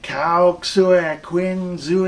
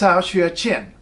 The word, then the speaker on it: Cao Xueqin: tip you know that X is like sha and Q is like chess so you should look at it and say it's how a chin it's how a chin